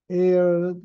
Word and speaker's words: ere: 음, But come here, air는 ERE를 발음하는 게 공기를 가리킬 때 음, 쓰는 air, 이 AIR하고 발음이 똑같아요.